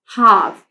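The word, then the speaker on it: half: First यहां हमारे पास एच ए एल एफ हाफ इसको रीड करते हैं। हाफ हाफ नहीं रीड करेंगे। एल जो है यहां पे साइलेंट हो गया।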